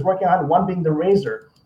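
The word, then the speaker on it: RASSOR: I'm going to be talking about experts about several different robots that NASA is working on, one being the Razor. Sounds like Razor, but it's spelled R-A-S-S-O-R.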